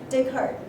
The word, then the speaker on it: Descartes: Descartes, spelled so we don't have the pronunciation on the S at the end, so that means probably French. All right, so he is very sick.